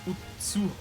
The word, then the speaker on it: Utsuho: Utsuho translates to emptiness, empty hole, or cave in Old Japanese, which is pronounced Utsuho. This is an example of a Japanese counterpoint to spelling pronunciation. The characters for Utsuho also mean sky and can be pronounced ku in a compound word, which is where we get Oku from.